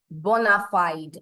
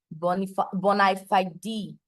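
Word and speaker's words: bona fide: my friend in argument he said bonafied and I think I believe the right pronunciation is Boni Boni not bonafied judges please take note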